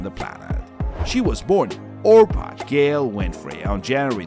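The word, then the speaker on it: Orpah: Ruth as a child people regularly mispronounce the name as Oprah which eventually caught on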